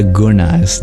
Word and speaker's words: gunas: so they're called the gunas GU u n a s but the yen is pronounced retroflex with your tongue curled by GNA GNA going